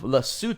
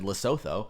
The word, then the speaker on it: Lesotho: numbers are 266 is the country code of lassoo 2 which is actually I I did look up the pronunciation luckily because otherwise I would have said Lesotho I would have said that too what do